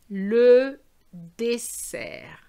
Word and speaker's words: dessert: So the first one is the snake sound, and the second one is the worm sound. I know they're silent, but you know what I mean.